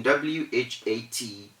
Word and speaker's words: what: lips and your mouth you don't say what what comes from the throat you blow air out of your throat to say what but that is wrong so in w-h-a-t the w-h the first two letters form a digraph and those two produce the sound of just the w so we say what